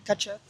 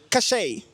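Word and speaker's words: cachet: En anglais, catch it. Come again? Catch it. Not exactly. Ça sera plutôt caché.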